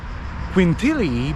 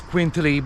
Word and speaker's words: Quintili: Now I'm saying Quintili because this is the local pronunciation. I normally pronounce Quintili, but I guess it's the same thing.